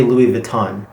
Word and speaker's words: Louis Vuitton: this very popular brand in english we usually say louis vuitton so what is the proper pronunciation in french so in french it goes like this so the last part is a nasal vowel and it's om where did we hear